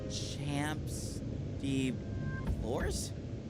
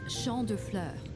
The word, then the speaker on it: Champ de Fleurs: Champs de Flores? How do you say that? Champs de fleurs. It's Champ de Fleurs.